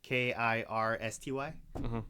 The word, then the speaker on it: Kirsty: the way the zabit say way they way it's spelled it's uh k i r s t y oh Kirsty yeah you're right KY it's Kirsty